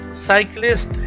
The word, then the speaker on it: cyclist: The word cyclist has two syllables.